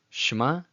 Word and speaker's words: Shema: it's not supposed to be overemphasized in its pronunciation. As you can see here with Shema, instead of Shema, it's not Shema, it's Shema.